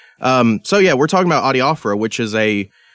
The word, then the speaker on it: adiaphora: even introduce the topic, how do you personally pronounce this word? Adiaphora.